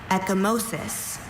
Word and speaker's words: ecchymosis: Ecchymosis. Are there any alternate pronunciations?